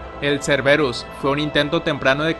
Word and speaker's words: Cerberus: por el laboratorio arclight esta criatura pronunciada como la palabra griega en kerberos lleva el nombre del